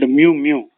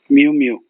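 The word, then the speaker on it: muumuu: and often colorful dress in Hawaiian is called Mew Mew m u u m u u mu mu light loose and often colorful dress a weak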